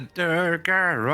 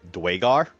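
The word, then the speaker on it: Duergar: I got the Durgar on my side. Come on, How do let's you know, it's actually Dwagar.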